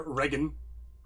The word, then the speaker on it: Reign: Shall reign with the G in there. Regan. Remember, all these are phonetic. So these these all get pronounced. There are no silent letters.